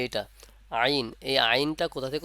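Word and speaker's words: ع: থেকে উচ্চারণ হবে এটা ওই এই যে এটা আইন এই আইনটা কোথা থেকে উচ্চারণ হবে এই হরফটির নাম হলো আইন আর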